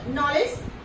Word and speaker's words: knowledge: Okay, so in letter K, when it is silent when it is used before N. Okay, so here we have some examples: knee, knife, night, knock, no, and knowledge, and there are many